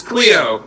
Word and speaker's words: Cleo: his name well so this is Cleo rhymes with Theo actually uh she's a